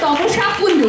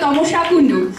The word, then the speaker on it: তমসা কুণ্ডু: আর একটা নাম ভুল উচ্চারণ হয়েছে, তমসা কুণ্ডু, গানে ছিল তমসা কুণ্ডু।